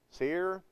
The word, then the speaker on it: Seir: Seir, I guess how you say it, S-E-I-R.